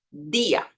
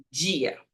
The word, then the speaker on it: día: La D suena como en portugués, pero si está delante la vocal, la letra I, voy a sonar diferente. Esta pronunciación es día, día. ¿Cómo es diferente? Si lo dices en portugués es dia, dia. En español, día, día.